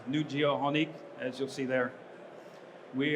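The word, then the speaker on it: Nujio'qonik: coast of of the island of New Finland pronounced new geoh honik as you'll see there we are a large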